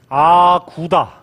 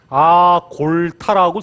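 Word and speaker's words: 阿骨打: 1115년에 여진족 가운데 완옌부라고 하는 부족이 있었는데, 그 완옌부의 족장이었던 아구다, 이렇게 아구다라고 읽지만 한자로는 아골타라고 쓰죠.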